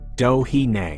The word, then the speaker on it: Doheny: Doheny is pronounced Dohine.